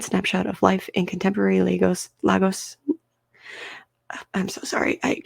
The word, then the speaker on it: Lagos: metropolitan city okay lagos lagos okay it is lagos i love phonetics it is legos continuing on